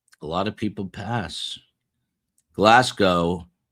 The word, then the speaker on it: Glasgow: Glasgow is Glasgow. Glasgow with a Z.